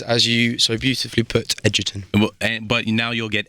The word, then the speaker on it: Egerton: you could say it otherwise right I get agaton I get eaten I get Edgington but the correct pronunciation is as you so beautifully put Edgerton and but now you'll get eggsy Oh Artu